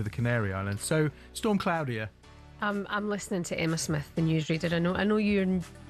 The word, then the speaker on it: Claudia: It is Claudia. Well, very good morning to DJ K, who texted in to say it's pronounced Claudia in English and Claudia in Spanish.